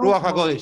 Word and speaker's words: Ruach HaKodesh: Ruach HaKodesh, sí.